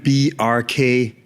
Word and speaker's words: Bjarke: pronounce your first name I normally explain it like there's a reference to Bjork because it's similar BJ yeah but the symbol hack just like you would say FBI or CIA you pronounce every letter in the acronym say the acronym BRK quickly BRK BRK oh okay